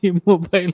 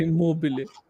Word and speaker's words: Immobile: बोल रहे गुरुजी, मैं तो अभी भी इमोबाइल ही बोलता हूँ.